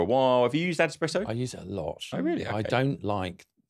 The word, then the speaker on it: AdEspresso: of all, Ad Espresso, I was convinced was Adspresso. And I didn't realise I know how to spell it now. I know that it is. I think I've called it Adspresso. That's what I've called it as well. So anyway, Adespresso.